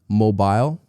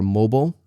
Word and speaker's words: mobile: Now, some of you maybe have heard mobile or mobile. Both pronunciations are correct. Mobile is American English and mobile is British English.